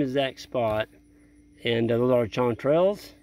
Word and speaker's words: chanterelles: And those are chanterelles. Did I pronounce that right? Yes, chanterelles.